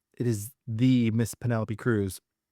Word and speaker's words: Cruz: is the Miss Penelopey Cruz or Kruuth as she likes to say.